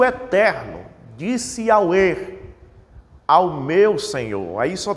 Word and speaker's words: Yahweh: na verdade era YHWH, o qual pronuncia-se Yahweh, eu creio que esta é a pronúncia. Também as pessoas começaram a chamar de Yahvé, e Javé, Jeová, mas na verdade